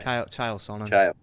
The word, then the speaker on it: Chael Sonnen: How do you pronounce his name? Chael Sonnen.